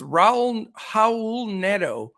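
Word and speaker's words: Raul Neto: state the second pick uh for crash it's raul howl nedo that's that's how you say it and it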